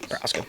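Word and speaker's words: Procházka: Is that how it's pronounced? Prochazka, yep.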